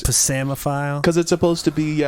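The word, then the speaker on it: psammophile: the P is silent. Yes. So what's the other one then? It's actually PSAMMO double M. PHILE. Oh, Double so it's M. Pasamophile.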